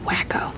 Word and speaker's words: Waco: And look, they weren't even, it wouldn't be considered Christian, but lest we forget, Waco, it's pronounced wacko, was a religious organization out there.